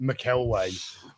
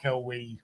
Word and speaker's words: McElwee: He's not like Laser Pants, who always mispronounces just McElway. Well, McElwee.